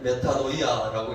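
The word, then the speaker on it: μετάνοια: 회개라는 말의 뜻이 우리 같이 한번 저 말은 우리가 알아둘 필요가 있는 헬라어인데 메타노이아라고 읽습니다.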